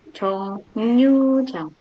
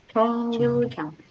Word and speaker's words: 정류장: Cara baca yang benar 정류장. 정류장.